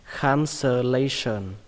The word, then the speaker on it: cancellation: Và cái từ này đọc là cancellation, đọc nhanh là cancellation, cancellation. Các bạn nhớ âm này là âm sờ nhé, không phải là sờn, nó là sờn.